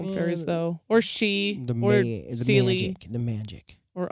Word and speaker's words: Sidhe: The Gaelic word is spelled Sidhe. And he looked at that for a minute and went, why? I was like, where do I even begin with this word? Sidhe, shiggy, Nope. She.